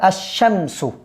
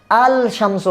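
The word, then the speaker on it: الشمس: কিন্তু লামটা কি হবে? লেখায় আসবে। উচ্চারণ হবে না। উচ্চারণ হবে না। উচ্চারণের ক্ষেত্রে আসবে না। তাহলে এটা কি হবে? আশশামসু আশামসু আলশামসু হবে না।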